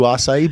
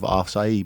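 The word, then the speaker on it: açaí: We do acai bowls too as well. A lot of people are in the craze of acai bowls or acai bowls.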